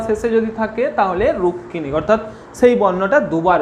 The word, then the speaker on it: রুক্মিণী: এর উচ্চারণ কিন্তু রুক্মিণী নয়। সংস্কৃতর ক্ষেত্রে এইগুলোর উচ্চারণ আছে, রুক্মিণী হবে সংস্কৃতর ক্ষেত্রে, কিন্তু এইখানে বাংলাতে এর উচ্চারণ কি হবে? রুক্মিণী। বাংলাতে এর উচ্চারণ হচ্ছে রুক্মিণী।